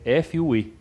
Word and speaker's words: FUE: e fazer a implantação da pronúncia é f u e é isso ótimo bom